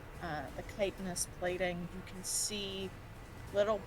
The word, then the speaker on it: chitinous: chitin sort of plating, the chitinous plating, actually, sorry, that's not how you pronounce that word. The chitinous plating, you can see little bits of the purple mushrooms sort of sticking out, Fucked up.